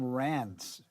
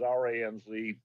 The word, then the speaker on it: Ranz: But anyways, R-A-N-Z is just the sound alike for Ron.